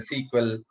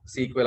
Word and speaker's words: SQL: okay and uh uh SQL you can you can call it as a sequel okay SQL also some people will pronounce as a sequel and uh you can call it a SQL okay all already I